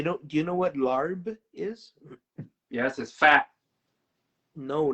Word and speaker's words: larb: do you know what larb is yes is fat no not lard lar lar no what what's alarm idiot it's actually pronounced lap uh in loation okay